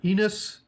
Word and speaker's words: Ines: Ines and Jana.